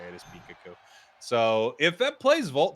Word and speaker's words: Pikachu: But that's the correct way that you say it is Pikachu.